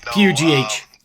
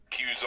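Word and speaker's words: Pugh: So last name sounds like it's pronounced, but that's not right, is it? No, P-U-G-H. I've been called everything from pug to. I'm not a pug dog. Yeah. I do shoot guns. Maybe works. I've had coworkers call me Pew Pew. Oh. So it's pronounced Pew. It goes back. It's an English name. Used to be the derivative of the son of Hugh.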